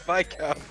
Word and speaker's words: Viscount: Yeah, it's Viscount.